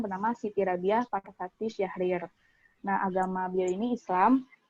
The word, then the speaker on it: Syahrir: ini adalah Sutan Syahrir atau kalau menurut berdasarkan ejaan lama itu tulisannya itu setan Sjahrir namun tetap dipanggil Sutan Syahrir beliau lahir di Padangpanjang